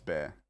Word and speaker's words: Bexar: It's Bear. Bear County has an X in it? No. No. That's horrifying. I'm very mad, and I'm mad about this. The X is silent?